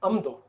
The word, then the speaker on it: Amdo: So we all know this region of Tibet, it's Amdo, right? Amdo. But actually the ma sound, the is actually a prefix for the second sound, right? So for some reason, it is pronounced amdo, right?